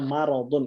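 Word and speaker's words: مَرَض: apa orang yang sakit kalau nggak ada ya sukunnya bacanya maradun itu artinya sakit beda ya artinya orang sakit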